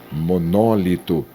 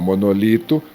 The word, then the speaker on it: monólito: E aqui, monólito. E não monolito, mas aqui você pode variar. O monolito e o monólito também é uma outra variante.